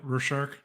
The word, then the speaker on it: Rorschach: Yeah, Rorschach.